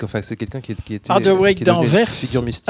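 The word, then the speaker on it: Hadewijch: Adeweyk d'Anvers, figure mystique. Adeweyk, pour vous, pour la prononciation plus française, c'est une des seules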